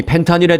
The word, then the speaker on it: 펜타닐: 펜타닐이라고 발음을 했습니다만 사실 미국에서는 F로 이 발음을 해주세요. 정식 명칭은 펜타닐입니다. 펜타닐. 저는 지금부터 이 F 발음으로 펜타닐로 이름을 부를 테니까 이해해 주시기 바랍니다.